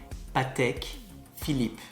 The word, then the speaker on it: Patek Philippe: there you have it say it slowly patek philippe and again the emphasis on philippe falls on the second